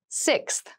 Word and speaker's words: sixth: fifth floor don't you sixth sixth sixth so sixth refers to the number six of something this is a really good word to practice some pronunciation slow down that six that middle part there the sixth book